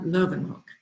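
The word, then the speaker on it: Leeuwenhoek: spell um i'm not dutch so anthony van lovenhook is how you say that and he was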